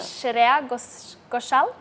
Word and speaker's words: Shreya Ghoshal: I'm going to try to pronounce it. Sure. Shreya Ghoshal.